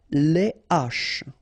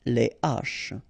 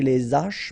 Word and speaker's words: les haches: Les haches, okay, les haches. Okay, so you don't say les haches, but you say les haches.